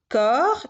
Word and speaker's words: corps: Vous avez doux qui s'écrit avec un X, blanc qui s'écrit avec un C, corps qui s'écrit avec PS, doigt qui s'écrit avec GT et temps qui s'écrit avec PS.